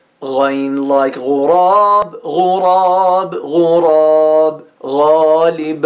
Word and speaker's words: غين: The name of this letter is غين غين, it's easy. It sounds غ, غ.